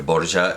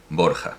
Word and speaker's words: Borja: Pero, y Rodrigo de Borja, claro, porque Borgia es la pronunciación o castellana y valenciana medieval o italiana, pero en español en castellano es Borja, por supuesto.